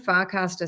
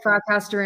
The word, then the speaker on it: Farcaster: Yeah, like I can't say Farcaster in my house without my husband giggling, because it sounds, because we don't pronounce the R's like you guys do.